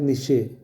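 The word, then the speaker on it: Nietzsche: डार्विनच्या सिद्धांतानुसार निश्चय नावाचा एक, त्याचं स्पेलिंग वेगळं आहे पण त्याचा उच्चार निश्चय असाच होतो.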